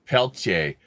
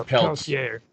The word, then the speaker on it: Peltier: I pronounce it Peltier, but apparently it's Peltier.